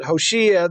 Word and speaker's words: Hoshea: would be 732 bc hoshea oshiya's better way to pronounce it hoshiya the son of elah